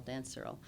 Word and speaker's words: Surl: But yeah, so um yeah, so I'm working with a producer um named Dan Surl Surl. It's rhymes with Pearl. Dan Surl.